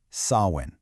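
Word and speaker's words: Samhain: And by the way, it's pronounced sawin.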